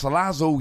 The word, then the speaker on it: Salazzle: And for those of you thinking, hang on a second, isn't it pronounced Salazzle? Yes, it is.